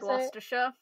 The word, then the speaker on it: Gloucestershire: Gloucestershire.